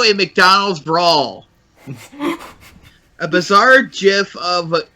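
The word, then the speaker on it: GIF: mcdonalds brawl a bizarre jiff of is pronounced jiff goddammit you on your net it otherwise I'm from the 90s it's jiff thank you a bizarre Jeff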